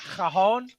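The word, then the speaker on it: cajón: And the cajon drum is a cajon.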